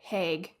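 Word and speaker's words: Hegg: This movie takes place in an island spelt Heg, but they pronounce it Hague.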